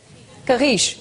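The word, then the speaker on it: Carris: How do you pronounce it? Carish, no? Carish, exactly.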